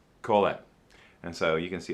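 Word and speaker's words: קֹהֶלֶת: word teacher uh is a hebrew word it's pronounced kohalet colette and so you can see it's it's that's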